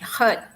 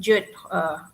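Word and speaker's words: Geert: They pronounce it Hert, Hert Hofstede, or we pronounce it Gert Hofstede, and also Fons Trompinas or Fon Trompinas, individualism and collective studies.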